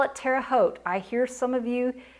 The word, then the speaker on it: Terre Haute: We call it Terre Haute. I hear some of you, when you're making videos, you call it Terre Haute. In Indiana, we pronounced it Terre Haute.